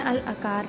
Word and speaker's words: Al-Aker: हम कुनाफा खा रहे हैं अल अकार पे, अल अकीर भी इसको बोलते हैं, डिपेंड्स कि कौन कैसे प्रोनाउंसिएशन करता है इसकी।